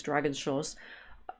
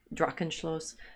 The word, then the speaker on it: Drachenschloss: little bit like this Dragon Schloss. It's a dragon. It's a dragon castle. Now I'm saying the name wrong. Drachenschloss.